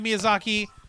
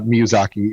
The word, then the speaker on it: Miyazaki: loves uh miyazaki well you kind of have to say his last name with uh the spanish accent because the uh the some of the pronunciations in japanese and spanish are very similar yeah exactly yeah so